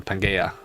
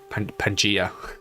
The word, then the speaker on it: Pangaea: because i'm playing on pangaea pangaea see what i'm using hard g for some reason um i don't